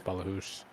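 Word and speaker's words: Ballachulish: Balachulish? Oh, it says right there. It's Balahoosh. Yeah, Balahoosh.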